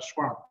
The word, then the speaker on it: Schwab: Właśnie Taleba Czarny Łabądź, właśnie Szwaba, wymowa brzmi z angielska Schwab, Szwaba, Klausa Schwaba, Czwarta rewolucja przemysłowa.